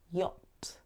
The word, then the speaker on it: yacht: boat and it looks like you might say yed but actually we pronounce it yacht Y Yacht the yacht